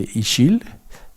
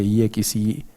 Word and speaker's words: Ixil: Hemos tenido reuniones con comunidades de Yucatán, específicamente en una que se llama la comunidad de Ixil. No sé, discúlpenme si no lo pronuncio bien, pero sí se escribe IXIL, Ixil.